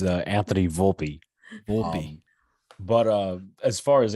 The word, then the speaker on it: Volpe: Volpe how do you say it's uh Anthony Volpe but uh as far as Anthony Volpe goes